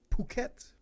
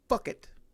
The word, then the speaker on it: Phuket: Joe Martinez pronounced it Phuket, Thailand. Damn it, Joe Martinez, it's pronounced Phuket, Thailand.